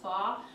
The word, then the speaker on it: pho: I like the traditional pho, it's pronounced pho, or vermicelli.